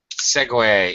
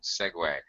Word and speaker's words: segue: a game different spelling segue is spelled like this but it's pronounced like the same it's a homophone segue a segue is kind